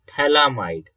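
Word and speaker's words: phthalimide: formed important to note this compound is known as thalamide okay ph is silent and thalamide and again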